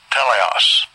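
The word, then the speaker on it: teleios: First, let me get the pronunciation in the Greek. Strong's G 5046. Teleos.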